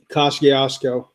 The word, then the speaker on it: Kosciusko: Is it Kosciusko? Kosciusko. Kosciusko. There you go. There's that one. And the Old Itala County Jail, which is also, say it again, Jeremy. Kosciusko.